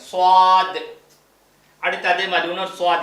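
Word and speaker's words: صاد: இது வந்து கனமா ஓதணும் சவாத் என் வாய் பாருங்க சவாத் அடுத்து அதே மாதிரி இன்னொரு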